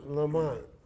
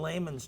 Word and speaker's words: Lamon: Lamont. It's not I'm Lamont. a layman. Yeah, in layman's terms. In layman terms. How do you actually pronounce it? Layman. Layman. Layman, yeah. Layman? as in layman's terms.